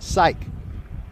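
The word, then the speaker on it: Psyk: to say it right it's spelled p-s-y-k but it's pronounced psych here's the two-in-one from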